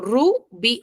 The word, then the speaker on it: rubí: No, yo digo rubí o digo rubí. En la B. en la B. Y B, ¿dónde está ubicado? En la sección de la A. Entonces, si su sílaba tónica está en el grupo de la A, entonces yo automáticamente la tildo, ¿cierto? Y digo que es aguda, aparte de que su